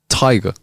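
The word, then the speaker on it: Tadhg: Thrones it's not right it's actually Tiger Tiger without the r at the end so it's like TIG TIG TIG Ty I like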